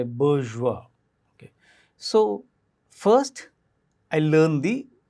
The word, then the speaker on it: bourgeois: more or less on point when I say bourgeois so first I learned the pronunciation right online dictionaries if you go to